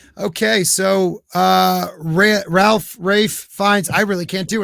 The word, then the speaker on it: Ralph: do you pronounce it okay so it's it's like a nickname for raphael it's r-a-p-h-y okay an uncle rafe it's a name right okay that makes so